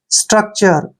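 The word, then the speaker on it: structure: तोड़ सकते हैं उसको एस को क्या पढ़ेंगे स टी को ट पढ़ना है आर को र लिखेंगे और यू सी का उच्चारण आधा क करेंगे और टी यू आर ई जब भी इकट्ठा आता है उसको हम चर पढ़ते हैं ऐसे स्ट्रक्चर स्ट्रक्चर स्ट्रक्चर होता है रचना या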